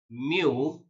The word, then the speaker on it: mu: a Greek symbol so this Greek symbol we need to pronounce it as Mu and here it stands